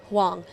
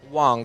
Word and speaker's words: Whang: wang your surname what's the correct pronunciation huang wang okay okay cause thank you